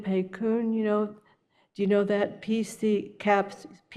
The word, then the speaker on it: PCUN: PCUN, pronounced PCUN, is a advocacy group in Oregon.